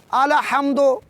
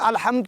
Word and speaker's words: الحمد: اگر کوئی یوں پڑھے الحمد، الحمد، یعنی ساکن کو متحرک کر کے پڑھے تو یہ تلفظ سورہ الحمد کی پہلے لفظ کا، پہلے ورڈ کا تلفظ